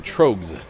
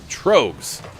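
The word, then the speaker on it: Tröegs: Apparently my first pronunciation, Troegs. Gray beers, that was the right one. So there you go, Troegs.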